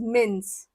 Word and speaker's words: Minsk: Alright, but the pronunciation is मिन्स. K is silent.